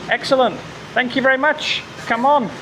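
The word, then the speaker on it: Cảm ơn: Come on. Is how you say thank you in Vietnamese.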